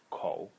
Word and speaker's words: 口: is this inside element over here which is pronounced Co and it's a mouth it's not a picture